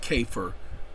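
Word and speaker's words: CAFR: they're doing it because people started pronouncing it cafer government creates acronyms all the time all the time c a k f r fur because it's pronounced that way okay because they're they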